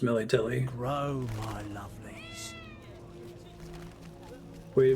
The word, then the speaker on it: Melitele: It is pronounced Melitele.